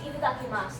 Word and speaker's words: itadakimasu: Yeah, I want to mention with a lot of Japanese words, they'll cut off the U at the end of it.